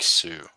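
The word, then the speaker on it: Sioux: I I know it's not Sue. It's like sneak, right? Or something. I don't know. Oh, you pronounce it like Sue. Okay. The Sue tribe.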